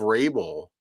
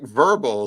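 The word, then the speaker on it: Vrabel: The woman who read off coach of the year, how do you screw up the pronunciation of Rabel? Yeah. She said it's Mike Verbal.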